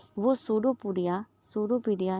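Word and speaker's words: pseudopodia: जो होते हैं वह शुरू पुड़िया शुरू पीडिया यहां ध्यान रखिएगा यहां पर साइलेंट रहता है सुडो पुड़िया तो यह जो होता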